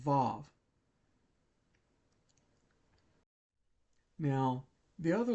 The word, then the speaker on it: vav: split split as to whether it makes a V sound or W sound. In fact, sometimes it's written as waw. But, it's usually pronounced vav.